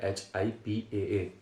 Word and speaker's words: HIPAA: का 'मेनी' का उच्चारण हिप्पा करता है, लेकिन यह सही है। इसका उच्चारण है एच-आई-पी-ए.